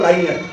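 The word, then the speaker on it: linear: लीनियर और लाइनियर दोनों बोले जाते हैं अलग अलग। अब देखो हमारा इंडिया जो है ना अलग अलग स्टेट में बटा हुआ है, हर स्टेट का अलग अलग प्रोनाउंसिएशन है। कोई लाइनियर बोलता है, कोई लीनियर बोलता है।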